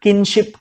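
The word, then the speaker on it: kinship: तो ये जो हो गया पूरा सिंगुलर किनशिप कहा जाता है इसे। ओके, इसको किंगशिप मत समझिएगा, कोई स्पेलिंग मिस्टेक नहीं है ये।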